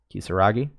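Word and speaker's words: Kisaragi: there is about yuffie i don't know how to pronounce her last name yes is it kisser Wragge k is a are a GI Kisa Wragge you so lucky I don't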